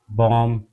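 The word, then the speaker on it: bomb: ऐसे ही हमारा बॉम्ब बॉम्ब में हमारा बी साइलेंट हो जाता है।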